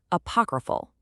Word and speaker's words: apocryphal: It's pronounced apocryphal.